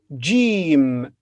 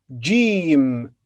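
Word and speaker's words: جيم: to a new letter it's jim it's name is jim and the sound is ja it's written like this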